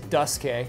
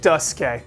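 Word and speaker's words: Duscae: Okay, first of all, the official Final Bosman pronunciation is Duske. Duske.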